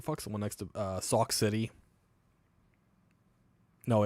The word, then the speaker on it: Sauk City: And you got Baraboo, and you have the fuck's the one next to Sauk City? No, it is not spelled like sock, like SOCK. It is SAUX, Sauk City.